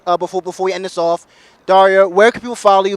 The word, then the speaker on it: Darja: So respectfully, I asked her what her name sounded like. She said Darja.